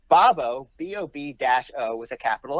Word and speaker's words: Bobo: So to me, that tells me that that's now the third thing I've seen that says Bob-O. Yeah. You seem to think it's Bob-O.